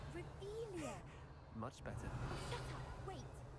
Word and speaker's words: Revelio: Revelius. You're saying it wrong. Revelio. Revelio.